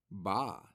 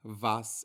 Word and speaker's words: va: as far as pronunciation the letter V in Spanish is identical to the letter B so it's not voy vas and VA it is boy Bas and ba we've already seen this